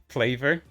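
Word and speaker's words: FLAVR: fake vtuber agency or or group called uh flavor it's pronounced flavor but spelled f La VR uh I think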